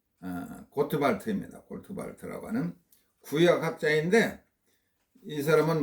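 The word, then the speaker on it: Gottwald: 요청하는 겁니다.이 이 사람은 노만 갓월드 독일 사람인데 노 독일어로 발음하면은 어 노르만 고트발트입니다.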